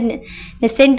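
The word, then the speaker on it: Knesset: किनेट कि silent है नेसेंट बोल सकते हैं।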